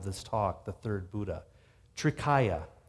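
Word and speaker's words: Trikaya: Greek and Latin so the first syllable tree you recognize from Trinity and triple and all of that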